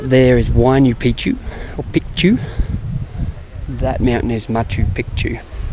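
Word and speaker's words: Picchu: like a photograph picture piku is how you pronounce it not Pichu which means penis in um in the native dialect um so all the tourists come here saying matchu pitu which means old penis thought that was pretty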